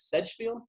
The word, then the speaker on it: Sedgefield: Sedgefield? Sedgefield, yep.